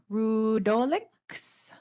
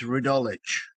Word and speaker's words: Rudolich: Let's see, up next is Rudolix, followed by Peter Law. You had that almost right. It's Rudolich, pronounced like it had a CH on the end of it.